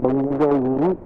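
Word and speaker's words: Bengaluru: नो 8 kilometres, और फिर 140 kilometres to बंगलुरु. That's how they pronounce it nowadays.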